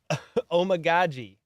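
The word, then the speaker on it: Amegadjie: Yeah, somebody in chat last night Omagoji. told us how to say it. It's like, oh my god, G.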